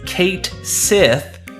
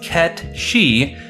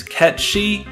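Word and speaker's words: Cait Sith: true pronunciation this name is often confused as Kate Sith due to how it's spelled however it's true pronunciation is KET shei as the name is Scottish gelic which means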